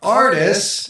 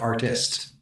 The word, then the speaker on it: Artis: right, so for the Faith in Life podcast today, we have, Artis. Yay! Yay! let me first question. How many times have you heard Artist? Oh, a lot.